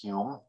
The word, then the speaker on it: Home: johnston by the way you see the two different spellings of home and hume they are evidently both pronounced hume the story goes that